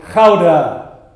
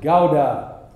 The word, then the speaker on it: Gouda: the Netherlands would be to ask him or her to pronounce the word Gouda. The Dutchman would pronounce it Gouda. Someone who is not Dutch will invariably pronounce it Gouda.